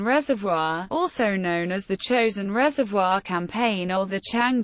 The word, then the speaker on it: Chosin: in the Korean War chosen is the Japanese pronunciation of the Korean name of Chang Jin the UN forces relied